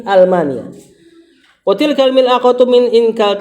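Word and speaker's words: ألمانيا: Min Almania, Almania itu Jerman, itu A-nya bukan alif lam. Hamzah qat'i. Jadi bacanya min Almania.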